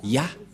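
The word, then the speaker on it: יה: Ça se prononce Ya.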